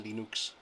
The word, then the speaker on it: Linux: it comes to linux hello my name is venus torvalds and i pronounce linux linux that was an old